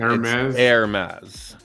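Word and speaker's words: Hermès: do you say that Hermes Hermes the H is silence air mass Hermes and Hermes is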